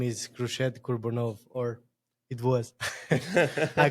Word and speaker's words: Khurshed: You need to say like Khurshed, so it's like really hard.